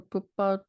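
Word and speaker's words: Poupaud: looked up his name is that correct bille pood or pood you don't pronounce the d at the so yeah he's he's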